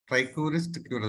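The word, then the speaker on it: Trichuris trichiura: Trichuris tricura, that is the correct pronunciation.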